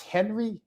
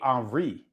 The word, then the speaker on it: Henri: I know I was saying it wrong. It's Henry. It's actually Henri. He's French, Henri, yeah.